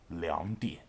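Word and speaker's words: 两点: a number when reading times two o'clock is pronounced liam die so 222 is orphan so can you guess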